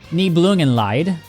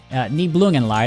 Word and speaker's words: Nibelungenlied: Nibelungenlied. That's how you say it. shout out my German skills. Nibelungenlied.